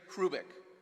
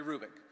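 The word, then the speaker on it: Hrubec: H-R-U-B-E-C, Terry Hrubik. The H is not pronounced, Terry Hrubik.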